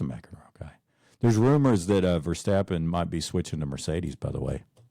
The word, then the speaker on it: Verstappen: And now that he retired, I'm more of a Verstappen guy. Is that how you say it? Verstappen, yeah, because he's kind of the same way.